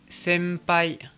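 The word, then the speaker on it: 先輩: à la prononciation française quand le son on en japonais est suivi d'une consonne comme le P ou le B et bien la prononciation va être un petit peu altérée ça va un peu plus ressembler à un M français par exemple senpai sempai ou bien chimpan passons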